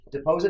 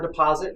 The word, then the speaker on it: deposit: pose it for deposit deposit or deposit yep you can pronounce it either way but in our part of the country people say deposits where I went to school in southern Ohio people might say de poseur they say gold instead